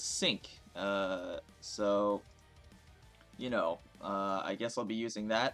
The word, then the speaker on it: Cinq: like five uh but because she's French the French people uh pronounce it as sync uh so you know